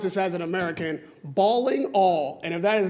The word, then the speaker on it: Ballingall: Okay, I would pronounce this as an American, Ballingall. And if that is not how you pronounce it, that's how you start today. Ballingall. It's Ballingall.